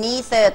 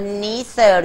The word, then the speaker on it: neither: Literate.ถ้าจดไม่ทันต้องแบ่งงานกันนะคะเธอจดบรรทัดที่หนึ่งฉันจดบรรทัดที่สองแล้วเดี๋ยวมารวมกันได้ไหมนะเออได้ไหมนะเราดูนะคะมาร์ตินมาร์ตินมาร์ติน is dot dot dot he can neither ตัวนี้อ่านว่า neither หรือ neither ก็ได้นะคะ neither neither ไม่ค่ะแปลว่าไม่มักจะใช้คู่กับ noneither